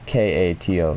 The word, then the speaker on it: Kato: name I'm thinking of, starts with a K, as in K-A-T-O, so Kato. And I know that's how it's pronounced, because I remember hearing it.